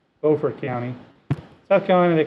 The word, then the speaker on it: Beaufort: If you look down here, in South Carolina they pronounce it Beaufort County. In North Carolina they actually have the same county, they call it Beaufort County.